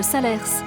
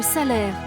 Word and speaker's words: Salers: cantalienne le pays de salers pardon de salaire car ici on ne prononce pas le s final sur le flanc ouest